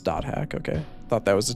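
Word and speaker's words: .hack: It is pronounced dot hack, okay.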